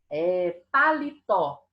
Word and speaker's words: paletó: Paletó.